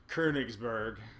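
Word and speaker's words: Königsberg: of weaknesses of the kingburg konigsburg as would be pronounced in Germany I guess um you've got your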